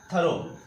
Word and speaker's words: thorough: ओ यू जी एच इसका pronunciation होता है क्या थो जिसका मतलब होता है